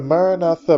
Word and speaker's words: Maranatha: pronouncing the Mantra the Maranatha Mantra is pronounced with the letter A that sounds like a as in the word car or far so a as in